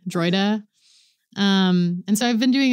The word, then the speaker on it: Droida: I have my own band called The Droida, which is spelled D-R-O-I-D-A.